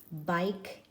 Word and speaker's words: bike: So bike, one syllable, has that E on the end, and it's a silent E. We don't hear it. We don't say bike E. We just say bike.